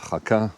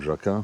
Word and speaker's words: Jaca: La cathédrale à Jaca, ou Jaca, c'est en fonction, si c'est un français ou un espagnol qui prononce, franchement elle est magnifique.